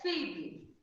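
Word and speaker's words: FIVB: A pronúncia é FIB, F-I-B, FIB, Federação Internacional de Voleibol.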